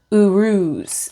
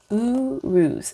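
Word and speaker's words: Uruz: correct way all right Urus is how you pronounce it Urus thank you for that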